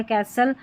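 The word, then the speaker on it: castle: कास्टल होता नहीं तो विस्टल होता तो टी साइलेंट है।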